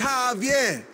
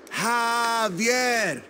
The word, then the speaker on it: Javier: It's Javier. It's pronounced like an H. Javier.